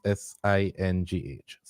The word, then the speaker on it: Singh: In response, on December 6th, Jody Ann Masters, how you pronounce S-I-N-G-H?